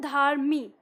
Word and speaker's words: धर्मी: इसका उच्चारण करा देगा जब हम बोलते हैं धर्मी ऐसे ही तो बोलते हैं ना जो र है पूरा र नहीं बोल रहे वो र म में एकदम चिपका हुआ है और फिर उसके बाद